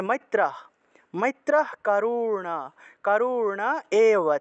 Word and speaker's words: মৈত্রঃ: মৈত্রঃ বিসর্গ থাকলে হ, তাহলে মৈত্রঃ।